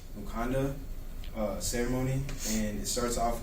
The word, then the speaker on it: Mukanda: I don't know if you guys have seen that or not, but it's actually pronounced Mukanda ceremony, and it starts off with the boys